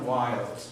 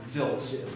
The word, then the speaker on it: Wild: Do not say Comet Wild. The gentleman who discovered it, his name is pronounced Vilt, V-I-L-T. It's a common mistake, it's understandable, but please, it's Comet Vilt.